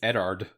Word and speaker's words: Eddard: yeah just not quite eddard Stark is not Edward Stark it's eddard he's making me mad